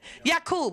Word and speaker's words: Yaqub: That's Jacob. He's the one who did the experiment. Yaqub, I'm sorry. Yes, I apologize. Yaqub, because there were no J's pronounced back then.